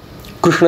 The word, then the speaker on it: कृष्ण: उच्चारण शुद्धीचे शास्त्रच आहे एक कृष्ण शब्द आहे कृष्ण शब्द त्याचं अनेक ठिकाणी वेगवेगळ्या पद्धतीने उच्चारण होतं नॉर्थ इंडिया साईडला जर का बघितलं तर ते कृष्ण म्हणतात कृष्ण असं म्हणतात काही भागांमध्ये कृष्ण कृष्ण असं म्हणतात ज्यांना तेवढा उच्चारण जमत नाही जोडाक्षर ज्यांना म्हणता येत नाही त्यांनी त्या कृष्ण शब्दाचा उच्चार अत्यंत सोपा करून त्याला किशन करून ठेवलेला आहे त्याला ते किशन म्हणून हाक मारतात अगदी सोपा अशा पद्धतीने